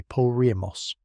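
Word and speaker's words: Porajmos: The Roma word for what happened to their people between roughly 1935 and 1945 is Parajos, pronounced approximately Primos, a Romani word meaning the devouring, or sometimes translated as the destruction.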